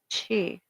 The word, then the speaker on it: qi: A Taoist text explains or reads the universe product Kui, spiritual energy pronounced Chi.